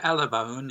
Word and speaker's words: Alabone: Exonation, our guest this hour is Alabon. And, am I pronouncing your family name correctly? Yeah. Alabone.